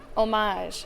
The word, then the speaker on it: homage: And some people pronounce the H and some people don't depending on where you live.